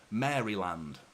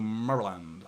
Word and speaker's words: Maryland: See, in England that would be pronounced Maryland, but I'm pretty sure it's like you sort of like mumble it a little bit, don't you? You go Maryland like that.